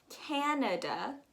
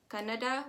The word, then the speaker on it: Canada: above the united states we have canada like a can of soup if you are unfamiliar with that can sound you can totally go and check out that a totally would recommend it um i hear a lot of people say canada which is a language that we speak in india um in south india